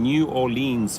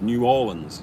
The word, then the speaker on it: New Orleans: city love new orleans i used to say new orleans and people say what the hell you don't know how to pronounce it so i kept i was saying new orleans for years right south african doesn't even know how to pronounce an american when it goes no it's new orleans new orleans okay thank